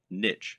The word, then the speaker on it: niche: Or to use the correct internet business parlance, what is your niche, or niche as some people pronounce it? A niche is a subject that will appeal to a specific audience.